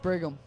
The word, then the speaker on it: Brigham: It's pronounced Brigham.